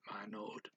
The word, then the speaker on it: manood: You may have noticed he did not say the O twice for manood. He just said manood.